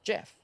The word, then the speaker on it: Gef: the creature declared that his name was geff pronounced Jeff and that he was